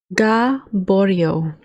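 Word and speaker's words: Gaboriau: Gaborio. Yes, that's how it's pronounced.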